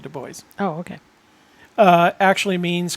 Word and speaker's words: Dubois: du bois it is they pronounce it the boys oh okay uh actually